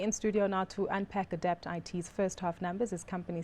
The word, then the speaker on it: Adapt IT: Just a few of my colleagues the other day were debating whether it's Adapt It or Adapt IT, and I said Adapt IT.